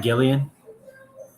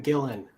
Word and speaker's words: Gillan: the Galaxy films Karen Gillian I'm gonna say that is incorrect Dean chance for a two-point steal Karen Gillan that is correct for a two-point steal think just a little bit I add extra syllable in there all right Alec your